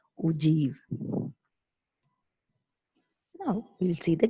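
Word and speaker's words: ogive: of less than type the spelling is oh give type but you have to pronounce that ugh now we will see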